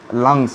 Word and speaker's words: lungs: Okay, and lunch and lunch is different. Okay, don't pronounce it in this way, lunch, lunch. Okay, don't pronounce in that this way. Okay, or better you can pronounce lungs.